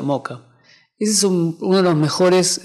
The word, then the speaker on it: Mocha: mucho pero un área se pronuncia moca es uno de los